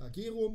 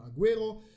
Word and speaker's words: Agüero: spricht man Spanisch und im spanischen bedeutet das Ü dass man das U mitpricht weil normalerweise spricht man UE als E aus einfach nur man spricht das ja u nicht mit aber wenn man hat dann spricht man es mit also nicht Aguero wie es normal wäre sondern Aguero und ja das gleiche